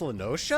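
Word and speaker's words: La Noscea: south tidegate in western la notia half stoned was called it's pronounced lenotia some years prior to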